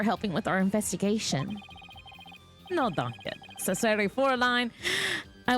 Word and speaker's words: danke: No, danke. Necessary for a line. I was danke. Well, how do you pronounce that?